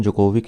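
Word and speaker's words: Djokovic: अब इसमें इम्पॉर्टेंट क्या है, जोकोविक, इनका प्रोनाउंसिएशन जोकोविक ही है, ये सर्बिया से रिलेटेड है, टेनिस प्लेयर हैं, ये इम्पॉर्टेंट है।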